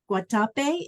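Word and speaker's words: Guatapé: is because of the big mountain in medine guatape is that the right way to say it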